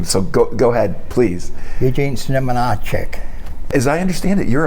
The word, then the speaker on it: Eugene Znamenacek: I'm going to call you Gene Z, but I'm going to let you pronounce the last name. So go ahead, please. Eugene Znamenacek.